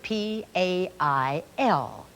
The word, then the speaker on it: pail: Here's another word, P-A-I-L. A and I together say A, A.